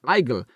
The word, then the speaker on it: Igel: word for Hedgehog is eigel it's pronounced like the English word Eagle which ah Eagle which